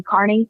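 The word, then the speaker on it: Kearney: Um, Turtlevoid Aiden Carney. Yes. Spelled like it would be pronounced Kierney, but it's actually Carney, right?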